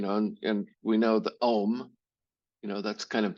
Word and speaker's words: Om: Because when we intone that syllable, it's actually 3 syllables. But when we do that, when we say the Om, our whole body cavity starts to vibrate.